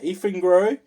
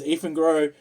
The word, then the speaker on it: Eafengrow: So basically, this is a Eafengrow. It's spelled E-A-F-E-N Grow.